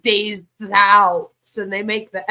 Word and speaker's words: Des Alpes: which is when they how they pronounce it it's like days out and they make the